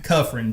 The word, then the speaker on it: Kufrin: Cuffrin.